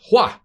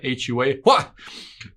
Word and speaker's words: Hua: uh co-founder and ceo hwa that's how you pronounce that hua that's gonna be a